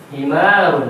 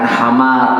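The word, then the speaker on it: حمار: Himarun. Lihat ya, dibacanya apa? Himar, bukan hamar, ya kan? Karena alif.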